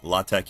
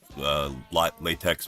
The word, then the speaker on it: LaTeX: LaTeX.